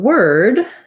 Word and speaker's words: word: And word, they have the same sound. So even though this word is with an OR, it's really like the word were plus a D.